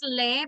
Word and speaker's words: aisle: You write it aisle, but the pronunciation aisle.